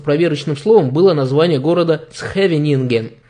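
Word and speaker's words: Scheveningen: К примеру, у голландцев проверочным словом было название города «Схевенинген», так как они произносят начало слова «сх», а немец скажет «шевенинген».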